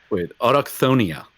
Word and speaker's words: Autochthonia: Autochthonia.